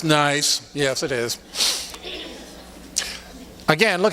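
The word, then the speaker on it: gneiss: that's a nice rock It's pronounced nice yes it is again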